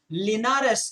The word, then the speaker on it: Linares: some strong players participating the tournament each year linares is the pronunciation that's in spain and talking of spain